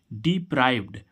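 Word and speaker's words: deprived: प आर आई ईडी डिप्राइव्ड डिप्राइव्ड डिप्राइव्ड means भी क्या होता है अब देखो इसमें डी जुड़ा क्या जुड़ा डी तो इसको इस डी को क्या पढ़ रहे हैं हम ड और उसमें क्या पढ़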